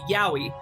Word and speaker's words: Yowie: Excuse me, could you pronounce that first one again? The Laurel or the Yanni. The Yowie.